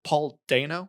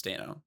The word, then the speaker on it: Dano: Daniel D Lewis and Paul do, is that how you pronounce his last name? Paul Do. I think it's Dano.